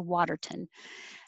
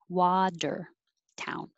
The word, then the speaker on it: Watertown: or or charleston um i know the name of the town watertown we say the town we don't change it to waterton um but americans will change that tea in water to water so make your wa wader town 14 prosthesis this is